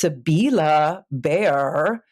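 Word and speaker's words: Sibylle Baier: It's pronounced Sabila Bear.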